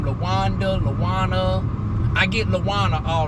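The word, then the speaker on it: La'Wuan: And I guess because on my thing I don't emphasize that it's supposed to be an apostrophe between the A and the W. And the W is capitalized. So I understand how people can mispronounce my name for Lauren, because on my ID and stuff, it doesn't put the apostrophe between the A and the W, but really it's supposed to be Lawan.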